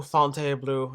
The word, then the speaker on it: Fontainebleau: on patreon man uh Fountain Blue fonte blue actually no no you're not even going to get that fancy wording no we're going to go back to Fountain you don't deserve the fancy pronunciation because there's nothing luxurious